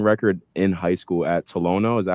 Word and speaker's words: Tolono: broke your scoring record in high school at Tolono. Is that how you say it? Yeah, Tolono Unity.